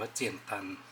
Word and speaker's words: 简单: คือ นี่ นะ ครับ อ่าน ออก เสียง ว่า เจี่ยน ตัน ส่วน อีก แบบ หนึ่ง